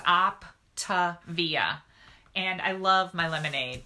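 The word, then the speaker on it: Optavia: the weight on and it's called Optive eeeh and it's spelled just like it sounds op Tavia and I love my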